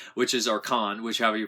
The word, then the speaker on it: Cannes: And it was actually debuted at Cannes, which is or Cannes, whichever you pronounce it, which is kind of bizarre to this movie.